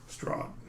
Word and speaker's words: Strahd: Strahd.